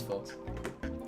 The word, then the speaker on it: folks: Behind the scenes, folks. You know what I've realized recently? What? I've been saying folks, like Folks? pronouncing the L.